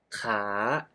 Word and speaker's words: ขา: ลูก ค้า ขา ประจำ Oh you pronounce ค้า Which means to Trade with the high Tone ขา ขา and ขา Meaning Leg With The Rising Tone ขา ขา Well You can hear that คา and ขา can pronounce similarly but They Have different tones That indicate different meanings So Be careful This